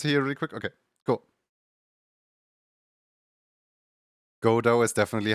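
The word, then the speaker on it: Godot: Godo is definitely how you would pronounce it.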